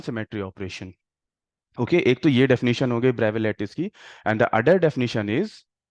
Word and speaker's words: Bravais: the bra bra lce actually bra bra s silent s is silent here it is called the bra lce so can anyone tell